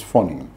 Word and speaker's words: Fani: It's called as Fani, but pronounced generally as Foni.